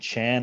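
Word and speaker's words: 禪: And is Zen and Chan identical? Yeah, they're just different word. There's a Chinese character that is pronounced Chan in Chinese, and Zen in Japanese, and it represents a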